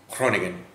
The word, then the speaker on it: Groningen: in hmm so it's Kronig n' like you don't really do the G you kind of weirdly